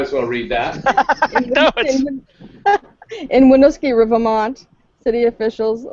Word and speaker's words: Winooski: In Winooski, Vermont, city officials like to involve local businesses Wait, in stop. Say Winooski. Say that again. Winooski. No, the whole thing fast. The both In of them. Winooski, Vermont.